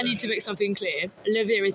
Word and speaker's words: LaVire: You're laughing now, but LaVire, LaVire. We are on Shopify, Spotify, everywhere, Facebook, Instagram, YouTube. Yeah, all the social media tags are LaVire Band. Yeah. Right. At LaVire Band. Yeah. Rhymes with beer.